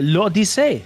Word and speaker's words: L'Odyssée: It's actually Odyssey. It's not difficult. Super Mario Odyssey. L'Odyssey. Yeah, l'Odyssey. That's it.